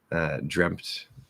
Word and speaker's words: dreamt: Yes, there would be a P there. Dreamt. If you try to get it really, really clear, you can get the P out. It would just be M to T, but because of the